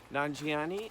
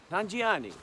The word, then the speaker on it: Nanjiani: what last time and I say Nanjiani I say it sounds Italian Nanjiani and they always remember